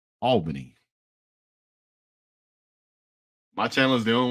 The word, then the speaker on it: Albany: or who it was but uh it is pronounced Albany my channel is the only one working right